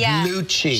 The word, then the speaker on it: Lucci: If it was C-C-I, it would be pronounced gnocchi. Oh, right. Like Lucci.